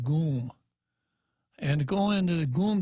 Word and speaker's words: GUM: Union called gee um I pronounce it gum they pronounced it goon and go into the